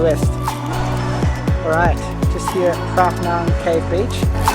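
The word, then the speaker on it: Phra: So it's pronounced Prah. So Prah Beach, but it's PH. So in Thailand, PH is still pronounced a P. It's not a silent P.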